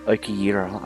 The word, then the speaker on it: Okiura: Okiyira, okay, that's how you say it.